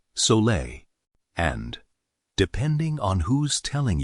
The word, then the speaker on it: Sole: It's called soul water, pronounced sole.